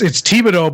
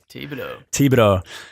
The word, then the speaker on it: Thibodeau: Did I say it right, Stew? It's Thibodeau, but that's okay. Thibodeau.